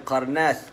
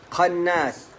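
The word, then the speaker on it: قناص: Bukan qarnas, qannas, ya. Qaf nun alif sad. Kalau ejaan Rumi Qannas, qannas. Qannas dengan sad.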